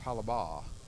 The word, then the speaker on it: Hollabaugh: And the way I can remember how to pronounce that is like Hollybecks was where you bought your Aggie boots back in the day. But you just forget to say the Becks is Hollabaugh.